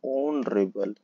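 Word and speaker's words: honourable: दोस्तों, यहाँ पे देखिए, यहाँ पर एच है ना, लेकिन ये यहाँ पर ऑनरेबल नहीं हम पढ़ेंगे। एच यहाँ पे साइलेंट है। एच क्या है? साइलेंट है। हम पढ़ेंगे यहाँ पे ऑनरेबल।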